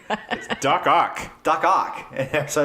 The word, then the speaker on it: Doc Ock: No, he taught him duck cock. Doc Ock.